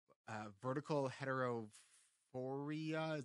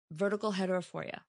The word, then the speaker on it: vertical heterophoria: It was the vertical heterophoria. Did I say it right? Uh-huh. Yeah, it's binocular vision disorder, and one of the conditions is called vertical heterophoria.